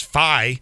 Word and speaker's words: fye: Well, but you're also not saying it right because fi doesn't sound short for fire. Fi. That's how it's said.